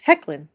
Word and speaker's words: Hoechlin: Tyler Hoechlin. Pronounced Hecklin.